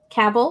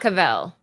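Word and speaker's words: Cavill: were debating on this caval Henry caval caval not not cavl I know I did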